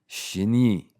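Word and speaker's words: shine: It's derived from the verb shinu meaning to die with an elongated e sound at the end adding emposus and making it sound more aggressive.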